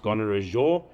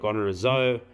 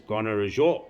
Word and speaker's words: Gonarezhou: And yes, it is pronounced Gonarezhou. A lot of people call it Gonarezhou or Gonarezhou. The correct pronunciation is Gonarezhou.